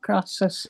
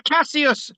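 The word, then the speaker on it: Cassius: I've got my name wrong. Casus. Not Graas. No, it's Casus. C A S S I U S.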